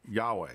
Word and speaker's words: Yahweh: We don't usually say Yahweh. Jehovah is just a corruption. Yahweh.